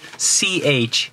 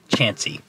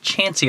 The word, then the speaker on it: Chauncey: this town is spelled c-h-a-u-n-c-e-y but it is not pronounced chauncey it's pronounced chansey so now when you're like i'm gonna go to chauncey ohio you can say chansey ohio people will make